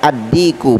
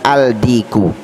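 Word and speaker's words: الديك: Jadi cara membacanya ad-diku, bukan al-diku, ya, bukan al-diku. Apalagi al-dikun, tambah salah.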